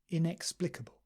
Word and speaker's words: inexplicable: Kun inconceivable indispensable indisputable inexplicable and sometimes people say inexplicable irresistible irreversible justifiable and